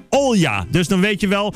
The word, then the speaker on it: Olga: Overigens op zijn Russisch uitgesproken als Olja.